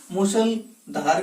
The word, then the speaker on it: मूसलाधार: मूसलाधार वर्षा, तो मूसलाधार, इस मूसलधार का उच्चारण जब करते हैं तो ह्रस्व ए का उच्चारण क्या होता है, दीर्घ रूप में होता है, मूसलाधार ऐसा उच्चारित होता है ये।